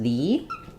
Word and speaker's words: the: would pronounce as uh the is going to be actually is going to actually be pronounced as the which we can think of with two e it has the tense e sound because for both article